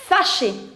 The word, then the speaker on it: fâché: For the angry, you'll write fâché. Fâché. Fâché. And here for the feminine, you will add an extra E, but then the pronunciation is going to remain same.